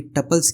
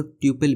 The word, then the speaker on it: tuple: तो सबसे पहले बात कर लेते हैं कि टपल्स क्या होते हैं। एंड उससे भी पहले हम या तो इन्हें टपल कह सकते हैं या तो ट्यूपल भी कह सकते हैं।